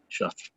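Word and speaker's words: Shough: my opinion on Oregon is you put pressure on Tyler Shuck, I think is how you pronounce his name. Yeah, Shuck.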